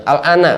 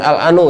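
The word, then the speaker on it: الآن: Alana bukan al-anu ya.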